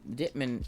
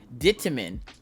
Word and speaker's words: Dittman: My family name is Dittman. See, Dittman, that's easy. She's like, you said it wrong. Dittaman.